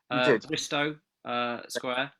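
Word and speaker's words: Bristo Square: Bristow Square.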